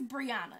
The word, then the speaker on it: Briana: of spelled different but my name is Briana it's Briana it's I can understand Bria